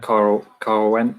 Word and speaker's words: Caerwent: So I guess we better talk about Caerwent. Is that how you pronounce it?